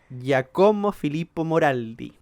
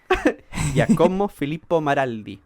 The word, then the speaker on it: Giacomo Filippo Maraldi: las pronunciaciones de nuevo, que se llamaba Giacomo Filippo Moraldi. Yo creo que tu Perdón, me equivoqué. pronunciación está mejorando. Giacomo Filippo Maraldi, ahí sí.